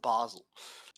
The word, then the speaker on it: Basil: it and they're like b-a-s-i-l and he's like oh dear God you mean basil and they're like well yeah but we pronounce it Basel it's like why do